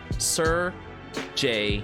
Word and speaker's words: Serjay: in the Philippines um if you see a word like s-e-r it's pronounced and that's how we would pronounce at the word sir like the night sir so it has happened